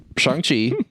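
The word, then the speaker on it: Shang-Chi: fine there is 10 of them nope it's shangchi i also keep saying it wrong shang chang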